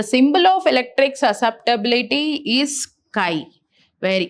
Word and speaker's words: chi: The symbol of electric susceptibility is Kai where E is electric and this is the symbol of susceptibility which is pronounced as Kai.